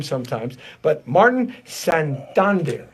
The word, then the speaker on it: Santander: your name right so you make sure I pronounce it right I mess up name sometimes but Martin son Don some Thunder yes ah I got it right and all